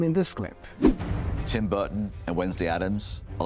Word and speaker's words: Burton: Martin Steve Martin bill clayti Bill Clinton and Tim Burton Tim Burton here's a fun treat her for